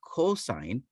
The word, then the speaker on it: cosine: The second one is not going to be cos. It is still going to be pronounced cosine, but we're going to abbreviate it using only the first three letters.